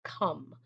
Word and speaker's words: come: So it's spelled C-O-M-E. It has a magic E and the O is not long.